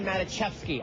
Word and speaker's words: Maticevski: first to arrive this is the first Tony matachi I just learned how to pronounce that correctly show that I've SE seen